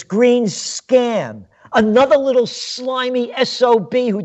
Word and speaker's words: Greenspan: you got the name you got the name wrong it's green scan another little slimy so